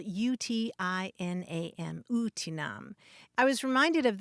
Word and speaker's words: utinam: it means basically would that or if only it's spelled UTI n a m utinam i was reminded of that when we